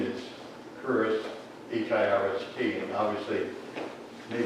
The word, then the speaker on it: Hirst: but my name is Hirst, H-I-R-S-T, and obviously, maybe it's the way it's pronounced, people will say Hirsch, like the jury, like Larry Hirsch and Sam Hirsch that ran Wesley Jury, which is H-I-R-S-C-H.